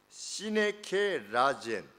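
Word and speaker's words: συνεκέρασεν: 24절 말씀에 우리의 아름다운 지체는 요구할 것이 없으니 오직 하나님이 몸을 고르게 하여 그랬는데 이 단어가 발음 자체는 이렇습니다. 시네케라젠 그런데 우리 신 SYN SYN은 우리 심포니도 아마 그 앞쪽에 그 앞쪽 SY라고 하는 것이 뭐냐면 함께라고 하는 의미입니다.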